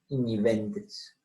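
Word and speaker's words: igniventris: Anisoña tus, iñi, G con N, iñi, de igneo, ¿cierto? Iñiventris.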